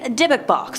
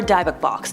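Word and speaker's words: dybbuk: Next up we have the Dick Box or Duk Box depending on who you ask. The pronunciations are different all over the interwebs.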